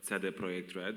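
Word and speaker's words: CD Projekt Red: Kuba uh and I'm a senior writer at CG project red or Ted project red as we pronounce it in Poland um and apart from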